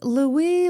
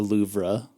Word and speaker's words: Louvre: continue calling it The louvra okay Joe keep it in yeah I was going to say I think the r is silent it's just the Lou that was a secret